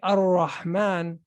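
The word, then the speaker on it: الرحمن: We say Ar-Rahman.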